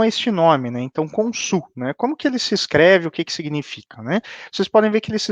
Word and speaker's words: Khonsu: Vão significar justamente Khonsu, né, ou como o egípcio provavelmente falava, Hansu, né, algo assim, né?